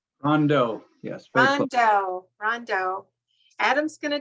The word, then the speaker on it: Rondeau: introduce Adam I don't want to say your name wrong rondu Rondo yes Rondo Adam's going to talk to everybody